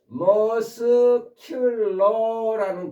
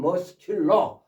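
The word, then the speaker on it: muscular: 머슬의 여쓰는 발음이 안 되는데 머스큘러라는 근육의라는 머스큘러 머스큘러라는 형용사가 있습니다. 근육 응 근육 형용사 그때는 C가 발음이 되죠. 머스큘러 머스큘러 근데 머쓸 때는 발음이 안 되고 이때 폼은 단단한 굳은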